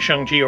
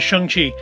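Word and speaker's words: Shang-Chi: the it is yeah in the trailer he refers himself as shangji or he's correcting somebody's pronunciation of it i think aquafina's characters pronunciation of it as shanxi and uh yeah so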